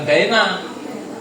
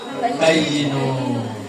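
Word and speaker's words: بيّن: Jadi ya walaupun enggak ada harakatnya bacanya bukan baina. Bacanya apa? Bayyinu.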